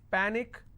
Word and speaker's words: panic: so let's break this Panic is PA Nick which means I will stress on PA and it's pronounced at panic tragic tragic I will